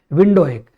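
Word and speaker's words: Windhoek: Namibia की capital क्या है, विंडोएक। बेसिकली नमीबिया जो है बच्चों काफी टाइम जर्मन लोगों के अंडर रहा, तो इसलिए वहां के शहर थोड़े से बच्चों जर्मन प्रोनाउंसिएशन वाले वर्ड्स हैं बच्चों।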